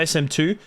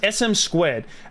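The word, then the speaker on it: SM²: was called SM squared I'm pretty sure it's SM squared not sm2 it's pronounced SM squared and what the game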